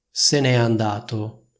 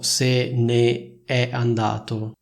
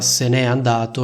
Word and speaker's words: se n'è andato: Infatti noi diciamo se n'è andato, non diciamo se ne è andato, ma questo semplicemente per facilitare la pronuncia, quindi si legge e si pronuncia se n'è andato e non se ne è andato.